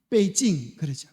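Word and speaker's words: 北京: 수도를 뭐라 그래요 북경 그걸 갖다가 중국 발음으로 하면 중국발은 뭐라 그래요 그래서 자 여기 이게 북경이 북쪽에 있는 시대예요 그래서 북경이다 그래서 베이징 남쪽에도 수도가 있을까요 남쪽에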